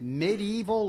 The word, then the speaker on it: medieval: is an appropriate name it's a question about medieval literature and I don't know is it medieval or MIDI evil for syllables or three you tell us dr.